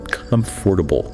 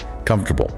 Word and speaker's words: comfortable: In the dictionary, it has 4 syllables. Comfortable. But nobody says that. What do we say? We crush the middle. It sounds like 3 syllables, or even 2.5. Comfortable. The or and the a both get reduced or disappear entirely.